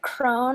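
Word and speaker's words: Krone: Crone. What is how that would be pronounced?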